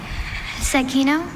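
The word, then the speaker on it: zecchino: So yes, Zakino.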